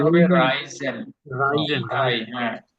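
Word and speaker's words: reisen: এটার উচ্চারণ হবে রাইজেন। Reason. আই, হ্যাঁ, ই Reason. আই প্রথম ক্লাসে বলছিলাম। Right, yes. ই এবং আই যদি একসাথে আসে এটার উচ্চারণ হবে আই।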